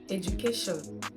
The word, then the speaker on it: education: tell us how to pronounce this word is pronounced as education education not education it is not pronounced education